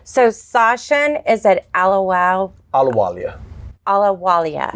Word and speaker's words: Ahluwalia: Ahluwalia. Yeah, H is silent. Okay, Ahluwalia.